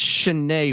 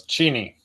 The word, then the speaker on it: Cheney: I've heard it's Cheney, Washington. Is that correct? No, it's Cheney. Cheney.